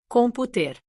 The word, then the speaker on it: computer: The stress is on the first syllable, computer, Note computer.